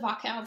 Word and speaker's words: Wachau: Yeah, it's called the Wachau Valley. So in English, I mean, it's spelled with a W. Pronounce that. But yeah, in German, they pronounce it V, Wachau.